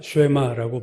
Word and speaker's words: 쉐마: 오늘 본문 신명기 6장 4절에서 9절 말씀을 우리가 쉐마라고 부릅니다. 쉐마라는 이 단어는 오늘 4절에서 이스라엘아 들으라 할 때 그 들으라라는 히브리어를 그냥 음역, 그러니까 발음대로 얘기한 것이 쉐마예요. 원래는 샤마 이건데 우리말에서 쉐마.